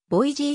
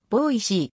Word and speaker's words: ボイシ: されているまれにボイジー州立大学とも記されるが正しい発音はボーイ c であり原音により忠実な日本語表記は碁石州立大学または美味しい州立大学である一家やつの